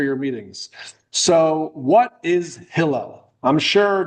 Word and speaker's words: Hillel: I call it hill. Accent on the first syllable.